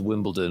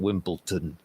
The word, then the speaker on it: Wimbledon: I asked you, how many sets of tennis will I watch at this year's Wimbledon, or as you Americans say it, Wimbleton?